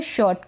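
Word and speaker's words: shirt: next ये है शर्ट, क्या है शर्ट, अब इसको शर्ट बोलते हैं तो गलत होता है वो प्रोनाउंसिएशन, यानी आर को हम पूरा प्रोनाउंस नहीं करते हैं, पूरा नहीं बोलते हैं, शर्ट नहीं बोलते हैं, शर्ट बोलते हैं या शर्ट बोलते हैं, दोनों तरीके से बोलेंगे ना, शर्ट या ये वाला शर्ट बोलेंगे तो यहाँ पर भी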